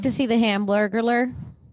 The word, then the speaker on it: Hamburglar: you say ham like it's like burglar like somebody who steals from you and ham at the beginning say it say hamburglar